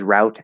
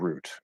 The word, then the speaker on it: route: Me, I use route and root. It's whatever one comes out of my mouth is whichever one I say. Same thing with data. It doesn't matter. There's no right way to say it. Both are perfectly fine.